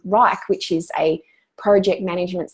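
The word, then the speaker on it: Wrike: I use Rike, a product called Rike, which is spelled W-R-I-K-E.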